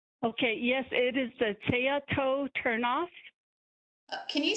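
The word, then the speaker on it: Tsayatoh: to make sure okay t-s-a-y-a-t-o-h i don't have the county road number but everyone knows as a tea-toe turn-off okay thank you thank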